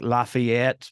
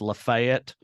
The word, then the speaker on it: Lafayette: type of thing or like Lafayette but it's Lafayette you know uh that type